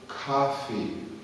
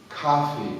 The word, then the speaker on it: coffee: Coffee. Okay? Aqui embaixo do vídeo você vai ver o escrito. Coffee. É muito importante falar fi ao final. Coffee.